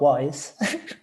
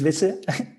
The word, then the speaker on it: Vissa: Um my name is not wise. Oh, sorry. No, that's it's okay. My name is Vissa, but yeah, pronounce I like if people call me wife.